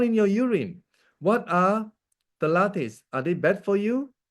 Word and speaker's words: phthalates: Is pronounced phthalates, okay, are chemicals that make plastic soft and flexible.